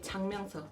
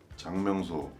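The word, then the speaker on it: 작명소: You gotta say 장명서. 진짜 발음. 장명소. Right. So when I first heard it, I thought it was JANGMYEONGSO. But they were like, no, it's 착명. But 장명 when you say it fast.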